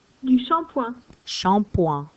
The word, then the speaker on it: shampoing: So in English it looks like shampooing, right? But listen carefully to the pronunciation. Du shampoing.